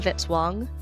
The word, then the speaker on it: Vitz-Wong: Music by Kevin Vitzwong, rhymes with hit song.